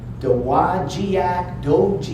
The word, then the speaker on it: Dowagiac: How the hell do you say that? Dowagiac.